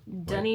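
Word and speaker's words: Doheny: something like that yeah dunny but it's spelled like d o h e n y but dunny it's dunny recommended by our Taxi Driver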